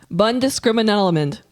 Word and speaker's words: Bundeskriminalamt: Bundeskriminalamt.